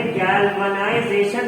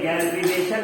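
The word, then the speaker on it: galvanization: नो सर ISLA अरे गैल्वनाइजेशन कहते हैं, गैल्विनेशन नहीं, गैल्वेनाइजेशन। जैसे गालवान वैली हुआ था, चाइना वाला गालवान वैली क्लैश, तो उससे याद रखना गालवनाइजेशन।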